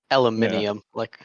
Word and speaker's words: aluminium: Why waste the time on the extra syllable? Aluminium, why?